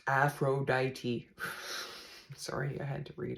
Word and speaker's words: Aphrodite: it on it's comfortable and warm about Aphrodite pronounced Aphrodite sorry I had to read it Aphrodite is